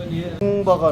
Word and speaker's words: 똥바: 똥바가 나왔습니다. 똥바를 한번 먹어보겠습니다. 뚱바가 아니고 똥바입니다. 우리 발음상 약간 좀 그래서 뚱바라고 불렀는데 똥바입니다. 똥바.